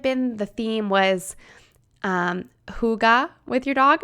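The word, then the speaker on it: hygge: the theme was um Huga with your dog am I saying it right it's that h y g g I think it's Huga and it basically means like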